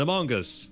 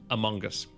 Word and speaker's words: Among Us: really hard and uh you're pronouncing the o as like an o sound instead of a schwa i would say among